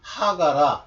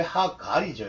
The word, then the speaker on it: 하갈: 근데 R자 발음을 영어식으로 안 하면서 하가라 그런 거예요. 하갈이라고 해야지.